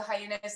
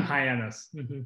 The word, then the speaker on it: Hyannis: noticed with your brand i'm drinking actually the hyenas am i pronouncing that right by the way that was the hardest one for me to figure out hyenas yeah hyannis it was the first one that i saw